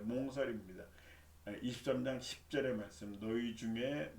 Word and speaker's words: 몽설: 그렇게 하고 다음 한자는 몽설입니다. 몽세라고 읽으면 안 돼요. 몽설입니다.